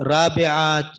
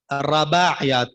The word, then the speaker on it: رباعیات: جی رباعیات، رباعیات، رابعات، مختلف سے نام آ رہے ہیں، تو اس کا اصل تلفظ کیا ہے؟ رباعیات، را کے اوپر زبر ہے، رباعیات، ٹھیک ہے؟